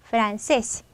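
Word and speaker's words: francés: 강세의 불규칙으로 렇게 찍혔고 여기다 힘을 주면 되죠 프란세스 프란세스 그럼 여러분이 발음할 때 프란세스고 이렇게 소리해서 세스 마지막에 힘을 주어서 단어 키고 그리고 여러분이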